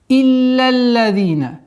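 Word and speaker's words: إلا الذين: Итак, «Илля-лладина». Четкое произношение касры с хамзой. «Илля-лладина». С огласовки фатха ляма переходим на удвоение 2-го ляма.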